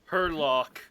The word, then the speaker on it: Herlock: Herlock. Herlock.